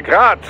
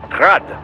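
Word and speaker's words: Град: Technically, the UG's name is pronounced Grad, the Ukrainian way. But most in the business pronounce it as Grad, Russian style.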